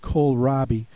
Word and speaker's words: kohlrabi: Make sure that you take a look at this OH spelling in here. That's very important. Spell that like the department store Kohl's. It's spelled the same way.